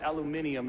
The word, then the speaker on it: aluminium: It's probably just aluminium, as the British say, aluminum or bone powder.